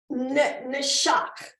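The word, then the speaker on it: נשק: but this is pronounced neshak, okay? It's a noon shin sound, and that's a kuf. So neshak, I believe, is the best, closest.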